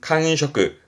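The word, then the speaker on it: 感触: 발음은 칸셔크, 칸셔크.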